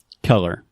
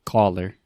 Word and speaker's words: color: one color color yeah Alexia has a tendency to say caller which is a colorino right well that would be color yeah so you're kind of in between so let's think about this the first sound so this is technically the schwa sound so uh uh very